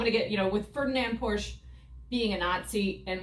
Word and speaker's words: Porsche: How do they say it in Germany? Porsche.